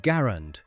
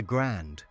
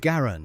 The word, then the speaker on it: Garand: Now, there's actually some debate about how to pronounce the rifle's name. It should be called Garand after the designer, but for some reason a lot of people started calling it the Grand. We're going with Garand here before someone starts throwing